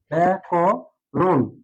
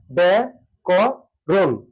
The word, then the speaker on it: ব্যাকরণ: ছিল ও হয়ে যাবে অর্থাৎ সংবৃত্ত উচ্চারণ ব্যা ক রুন ব্যা ক রুন এখানে বাধাক্ষর থেমে গেলাম তো এটি সঠিক উচ্চারণ হচ্ছে ব্যা ক রুন এবার আমরা চলে যাই